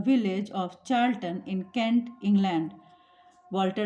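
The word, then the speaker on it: Charlton: यहाँ I want to से कि बहुत लोग इसको कार्ल्टन पढ़ते हैं बट the correct pronunciation is चार्ल्टन.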